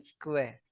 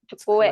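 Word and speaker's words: 机: Opo, pero magiging ang basa niyan ma'am is marang ganyan tsukue.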